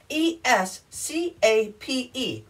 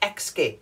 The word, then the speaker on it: escape: that's a tongue twister escape not xscape we don't want to escape because that's x no it's escape got it then espresso